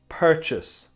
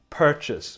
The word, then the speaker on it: purchase: And be careful here with the pronunciation. It's purchase. Purchase. We don't say purchase. Purchase.